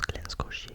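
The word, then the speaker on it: Glen Scotia: Il s'agit d'un d'un Glen Scier, c'est comme ça que ça se prononce Glen Scier, j'ai fait la vérification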